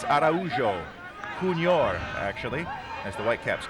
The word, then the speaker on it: Araujo: Paulo Araujo wins a throw-in for Zinho's Miami FC, and it was Zinho who made sure that that was the right pronunciation. He said it's a Brazilian name. It's Araujo.